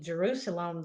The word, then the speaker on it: Jerusalem: And when they say Jerusalem, they say it like almost Jerusalem, Jerusalem. And so they would have called it Salem.